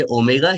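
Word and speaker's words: Ω: Best case जिसको हम ओमेगा से डिनोट करते हैं और प्रोनाउंस करेंगे ओमेगा या लोअर बाउंड।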